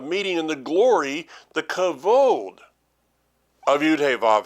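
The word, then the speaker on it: כבוד: I pronounce that and you're coming up with something that sounds a lot like kavod well that's because that's the way it's pronounced is cavod but what is cavod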